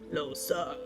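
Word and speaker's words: Lohse: earlier today when a void grub was like, "Loa," I'm like, "Oh, that's how you say her name.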